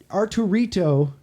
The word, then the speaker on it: Arturito: His uh his is Art Arturito pronounced like R2-D2 because he likes Star Wars and his grandpa names Arturo.